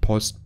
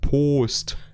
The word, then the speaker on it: Post: Nicht Post, Post. Englisch Aussprache.